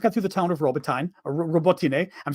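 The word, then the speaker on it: Robotyne: about the fact that, and don't even think of correcting my pronunciation of Robotine. Don't even think, because I've had multiple Ukrainians correct me, and I was correct in how I was saying it.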